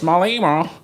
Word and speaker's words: Malema: They can say Julius, but Julius the pronunciation. Julius Malema.